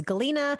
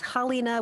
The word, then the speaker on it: Halyna: I've seen the Russian pronunciation of that name is Galina. The Ukrainian pronunciation is Halyna with a soft H.